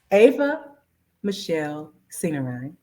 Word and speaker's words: Ava Michele Seenarine: Ava Michele Seenarine.